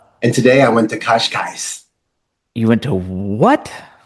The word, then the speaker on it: Cascais: now in Lisbon, Portugal, and Lisboa, as the locals say. Lisboa, Lisboa. Yes. And today I went to Cascais. you went to what? It's a seaside city, Cascais.